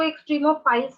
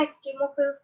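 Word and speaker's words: extremophiles: कई लोग इसको एक्सट्रीमोफाइल्स भी बोलते हैं, एक्सट्रीमोफिल्स भी बोलते हैं, जो आपको अच्छा लगता है बोलिए, स्पेलिंग कोई थोड़ी बदल सकता है।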